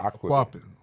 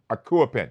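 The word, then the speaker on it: Akuapem: Aquapin, am I pronouncing that Yeah, right? Quappin. Akuapin.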